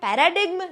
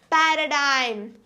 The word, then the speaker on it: paradigm: no I'm not right the correct pronunciation is Paradigm Paradigm paradig and in us which is nothing but American English we pronounce it as paradig Paradigm the only difference is over here p and p but what is this